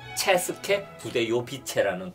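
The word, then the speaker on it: České Budějovice: 뭐 80년 전까지 그런 왕국이었는데 오타카르 2세라는 국왕이 도시를 하나를 만들었는데 그 도시 이름이 발음이 좀 어려워요. 체스케 부데요비체라는 도시를 만든 진짜 거예요.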